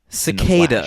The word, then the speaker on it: cicada: Cicada, Henry. Do you know the word cicada? I say it as it's a type Italian of bug. It's a hard C. Cicada. Great.